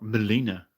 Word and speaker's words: Melina: No, Melina, as the announcer pronounces her name.